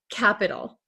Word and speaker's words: capital: pronunciation one more time we have a t here however we do not pronounce it in American English like a true T